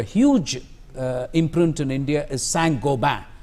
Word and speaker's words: Saint-Gobain: The other firm which has got a huge imprint in India is Saint-Gobain. It's pronounced as Saint-Gobain by Indians, but it's Saint-Gobain.